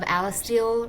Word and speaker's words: Alistile: So, can you give us a brief intro into The Guardians of Alistel? Risen from Ash. Did I pronounce that right, by the way?